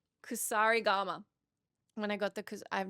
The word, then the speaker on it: Kusarigama: particular the, oh man, I want to say Kurasigama. Kusarigama. When I got the, I've not said that right. Not even once in the 80 hours I was playing Ghost of Yotei. The Kosarigama, did I say it wrong again?